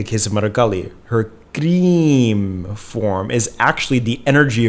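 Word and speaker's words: क्रीं: The mantra of Mother Kali, that's the sound that is her true energetic form, is cream, or rather cream is how it should be pronounced.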